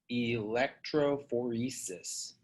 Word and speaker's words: electrophoresis: touch them there is it's called gel electrophoresis pronounced electrophoresis hey guys i'm gonna back up for just